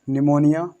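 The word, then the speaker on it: pneumonia: तो यहाँ पर देखो पी को नहीं पढ़ा जाएगा यहाँ से, क्योंकि एस से पहले क्या है, एस से पहले हमारा पी है, पी जो है वो कैसा रह जाएगा, साइलेंट रह जाएगा। तो यहाँ पर सिर्फ इसको पढ़ना है शाम, इसको निमोनिया शाम।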